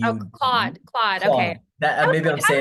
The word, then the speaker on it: Claude: So Cloud.ai, it's spelled C-L-A-U-D-E. Oh, Claude.